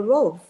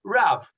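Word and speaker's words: רב: You talked about the Rov. Yes, so the Rov is just the Ashkenaz pronunciation of Rav, because it's a Resh with a kamatz, okay, which in the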